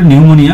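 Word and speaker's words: pneumonia: the correct spelled word নিউমোনিয়া এটা উচ্চারণটা নিউমোনিয়া বাট এখানে পি থাকবে এটা প্রশ্ন কিন্তু অনেকবার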